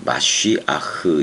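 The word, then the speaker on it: מָשִׁיחַ: 마쉬아흐 이렇게 해야 돼. 그 메시아로 음역을 했기 때문에 원 발음이 마쉬아흐지만 뭐 메시아로 그냥 해야지 뭐 어떻게 할 거예요.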